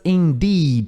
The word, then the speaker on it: indeed: É um i longo, então é nd. Vou botar aqui, ó. Indeed. Então isso aqui é um n, é quase um e isso aqui. N e aqui deed, i longo.